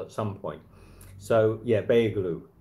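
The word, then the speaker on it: Beyoğlu: So yeah, Beylu. But I don't think you pronounce the G. Quattro Girl said yeah, Beylu.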